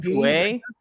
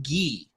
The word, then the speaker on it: Gueye: Mohamedou Gueye. Okay. I don't know French. Ghee, like butter, like the.